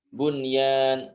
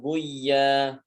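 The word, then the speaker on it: بنيان: Bunyan bukan buya.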